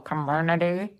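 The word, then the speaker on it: Comirnaty: It's like community but like you're chewing on a golf ball. Comity is how you say it.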